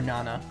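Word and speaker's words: なな: to do it again seven in japan japanese can be pronounced yes i i would always i was actually thinking about that the other day because i would never remember shichi i'd only ever remember nana and i felt weird because i knew not everyone used that pronunciation strawberry sandos are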